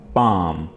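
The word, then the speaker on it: palm: hand हाथ hand पाम यहां पे आपने एल को साइलेंट रखना है और यह वर्ड आपने पढ़ना है पाम हथेली बोन बोन हड्डी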